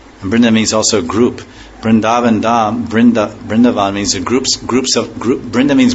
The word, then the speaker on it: Vrindavan: Yeah, it's like not, the A is hardly long, it's not like it